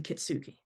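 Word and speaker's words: kintsugi: and has been put back together using kitsuki.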